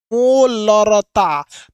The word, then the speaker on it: मोलरता: देखिएगा अगर इसको प्रोनाउंसिएशन करेंगे तो हल्का सा इसमें लीटर की ध्वनि है, मोलरता।